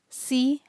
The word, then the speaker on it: C#: It is written C hash but pronounced C#.